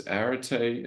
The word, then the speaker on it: Arete: It's Arete, as you see right here.